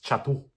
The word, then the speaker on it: Chatto: kayaan chatu eh kasi ang tamang pronounce is chatu yan ang tamang pron kasi double t so ito si Edgar